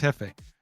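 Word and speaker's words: jefe: It's pronounc It's pronounced Hefe.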